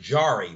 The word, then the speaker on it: Jarry: Tristan Jarry, or is it Jarry? I heard them pronounce it Jarry, Wayne.